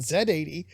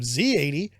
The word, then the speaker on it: Z80: don't hassle anyone from countries that pronounce it Zed 80 instead of Z80, and I don't demand they pronounce it my way.